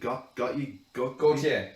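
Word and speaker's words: Gotye: So that the likes, I don't know how to pronounce his name. Gautier. Gautier.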